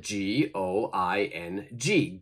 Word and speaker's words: going: becomes g i n so we don't pronounce the final g okay so let's practice